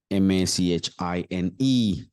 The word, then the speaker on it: machine: ma it's not machine many of us we think this is ma machine it's not machine it's machine M machine listen and repeat